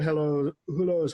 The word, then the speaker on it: Hulot: This one now playing Monsieur Hulot's Holiday. Monsieur Hulot's Holiday. Monsieur Hulot's Holiday. What? Anyway, coming soon when Father was away on business. It's French. The H is silent.